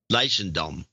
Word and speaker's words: Leidschendam: You can pronounce it. It's Dutch. It's Leidschendam.